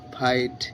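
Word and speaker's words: fight: আই জি এইচটি লাইট এফ আই জি এইচটি ফাইট এন আই জি এইচটি নাইট guys খুব সহজ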